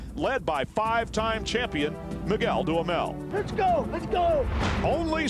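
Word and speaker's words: Duhamel: you'll hear us say Miguel damel which is how he pronounces it daml which is how we pronounce it you know so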